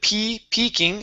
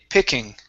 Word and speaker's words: picking: Instead of peeking, it's picking.